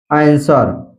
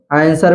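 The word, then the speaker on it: answer: silent होता है जैसे आंसर आंसर में आप देख सकते हैं या डब्लू आया है एस के बाद जो है डब्लू आया है इसलिए यहां पर डब्लू साइलेंट है सीधा पढ़ा गया आंसर इसी तरह सोड सोड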